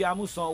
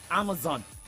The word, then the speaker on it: Amusan: Toby Amusan's name wrongly because she's Toby Amusan, not Toby Amazon.